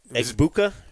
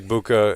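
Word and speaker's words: Egbuka: Amecha Abbuka, and I think the G is silent. You may be right. I I game. The only reason I remember that is because Nate Berlinson said the G is silent like in Lasagna in his highlight package.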